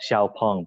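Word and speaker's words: 小鹏: Okay, and in Chinese, it's called Xiaopeng, but it's a little too difficult for foreigners to pronounce.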